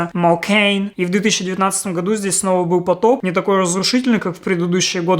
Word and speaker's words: Mokane: Mokan, Makan, Makane, so I pronounce it differently. Already at the installation stage I learned that the name of the city is pronounced Mokain and there was a flood here again in 2019.